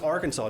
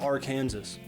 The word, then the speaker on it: Arkansas: And it's pronounced Arkansas, not Arkansas.